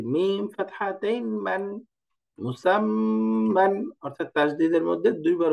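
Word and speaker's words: مُسَمًّى: এই যে এখানে একটু গুণনা করতে হবে, এটা কি গুণনা বলে সামনে আসবে উচ্চারণে, যে মিম আর নুনের মধ্যে তাসদীদ হলে গুণনা করতে হয়। তো এটা পড়তে হবে মুসাম্মান, মুসাম্মান।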